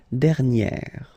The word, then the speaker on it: dernière: And then second example, dernier, okay? And you will get dernière.